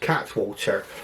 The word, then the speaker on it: Cattewater: It's got an E in the middle, but Cattewater, it looks like it's spelled like, but he assures me it's pronounced Cattewater. Okay, so what I do